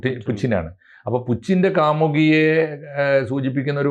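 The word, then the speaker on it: Путин: തീർച്ചയായിട്ടും ഭരണകൂടത്തിനെതിരായിട്ടാണല്ലോ അപ് പുച്ചിന്റെ Putin എന്നല്ല ശരിയായ ഉച്ചാരണം പുച്ചിനാണ് അപ്പോ പുച്ചിന്റെ കാമുകി സൂചിപ്പിക്കുന്ന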